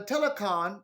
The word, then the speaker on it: Telakkhon: And it says, even more pathetic is the current belief of the Telecon, and that's spelled Telakkhon cult, among these same